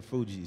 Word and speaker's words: Fugees: Fugees. Yeah, like refugees.